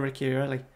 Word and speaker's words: Ricciarelli: come on ricciarelli samuel someone told me in the comments a few weeks ago i think about ricky ricky ricky irely's pronunciation we're just we're just going ricky really it's as simple as that come on it's chelsea